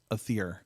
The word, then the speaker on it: Aether: Same with like Aether's name. We got to work on that, too. A T H E R is pronounced Aether, although not that you're going to understand what I'm saying right now.